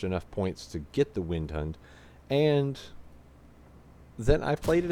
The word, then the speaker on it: Windhund: probably already have the Windhund by now. Or if we're going to be trying to be proper with our pronunciation to be a Vindhund.